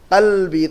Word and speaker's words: قلب: قلبی، تو آپ کو تلفظ صحیح کرنا ہوگا.